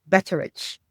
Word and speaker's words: Beceric: Beceric.